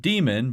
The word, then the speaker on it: daemon: Now, officially it's pronounced demon, but it's spelled differently, so just to separate